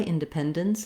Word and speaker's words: independence: You have what's called the syllabic N. So the N sound works as the whole syllable. It acts like a vowel and a consonant together. I've rewritten it here for you with letter I, independence, dence. We're just going to move quickly from the D to the N sound with very little or no vowel, independence, dence.